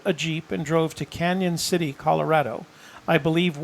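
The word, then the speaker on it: Cañon City: post Brian Eagle says it's pronounced Canyon City thank you I wasn't sure because there is no why nor is there a tilde over the end tilde so that's the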